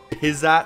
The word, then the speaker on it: Pyza: I believe it's pronounced the Pyza suit, based on the fact that Techland is a Polish developer, and the word Pyza is actually a Polish word for a potato dumpling.